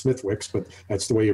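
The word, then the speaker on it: Smithwick's: It doesn't matter that Smittix, it's not Smittix, it's Smithwicks, but that's the way you pronounce it.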